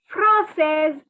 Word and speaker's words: française: But for girls, since there is an extra E, the S is to be pronounced. So I am French for girls is je suis française.